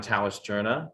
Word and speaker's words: Tauscherna: hello everyone um my name is tauscherna that's actually how you pronounce my last name so for those of